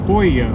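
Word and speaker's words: pollo: know cuban restaurants having empanadas but yeah polio poyo okay polo is pronounced hoya that's why every time i'm at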